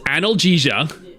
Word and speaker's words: analgesia: It's pronounced analgesia.